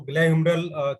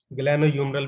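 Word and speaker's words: glenohumeral: तो ग्लैह्यूमरल कैप्सूल इसको बोलते हैं हम, ग्लैनोह्यूमरल भी बोल सकते हैं। और कई बार कुछ जगह कुछ बुक्स में या कुछ प्रोनाउंसिएशन में एन को साइलेंट भी करके दिखा सकते हैं, लेकिन ग्लैह्यूमरल कैप्सूल या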